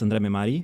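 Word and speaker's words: André Mehmari: I do want to quickly ask about help me with the pronunciation of the name, Andre Mimari? Yes, Andre Mimari.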